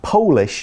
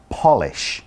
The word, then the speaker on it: Polish: at the word polish now make sure you pronounce it polish not polish okay polish is an adjective and it means